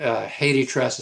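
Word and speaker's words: HathiTrust: And that Haiti Trust is spelled Haithi.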